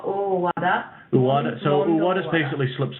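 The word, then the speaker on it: Owada: His name is pronounced as... Ueda. No, Uwada.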